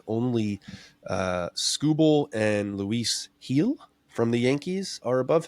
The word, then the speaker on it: Gil: erra at 208 only uh scoble and Luis heel from the Yankees are above him so B got a chance let's hear it so Luis Luis heel has been just absolutely killing it since he's